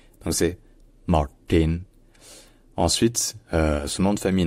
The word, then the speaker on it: Martin: et E de car ensuite le RT dans son prénom est prononcé en fait plutôt comme un T qui est rallongé qui est un peu plus retenu et qui surtout qui rétroflexe c'estàdire avec la pointe de la langue qui est vers le haut donc ce n'est pas c'est plutôt voilà avec un T rétro Flex donc c'est Martin ensuite